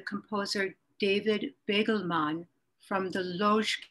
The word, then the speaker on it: Łódź: I'm going to be featuring some music by the composer David Begelman from the Lodz Ghetto, more accurately pronounced in Polish as Łódź.